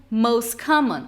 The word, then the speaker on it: most common: Outro, por exemplo, most common. Você não vai ouvir esse T, você vai ouvir um most common.